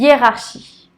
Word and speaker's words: hiérarchie: son chaud shi y est rare shi yee hiérarchie dans une phrase julie a des problèmes avec